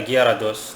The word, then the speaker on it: Gyarados: Yeah, Gyarados. That's how it's pronounced, right?